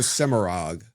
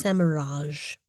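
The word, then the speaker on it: Semirhage: they went with the Semirag pronunciation, which I'm not partial to, No. but whatever. You put an E after a G, it's a soft G. Well, Yes. yeah, that's true. Semiraj.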